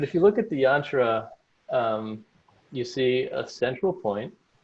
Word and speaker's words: yantra: That's an example of a yantra. So it rhymes with mantra, and they're kind of related.